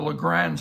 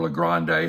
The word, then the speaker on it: Le Grand: hand I began acquiring the Legrand series or La Grande however you choose to pronounce it but the le grand